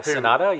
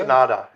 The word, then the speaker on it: Sanada: Is that how you pronounce his name? Sanada yeah. Sanada From from um from Shogun.